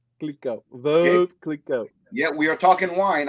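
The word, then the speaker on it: Veuve Clicquot: You go and you trying to use a V word. Is verve. Verve. Which means widow. Is verve clicquot. Verve clicquot.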